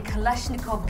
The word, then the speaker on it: Kalashnikov: Ons gesels vandag met ons tweede kreatiewe kerel, Andrew Kayser se openingsaand was op 20 Julie by die Kalashnikov Gallery.